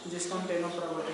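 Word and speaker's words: Ctenophora: सी silent है इसमें, यानी सी साइलेंट है। टेनोफोरा सी से स्टार्ट होती है स्पेलिंग।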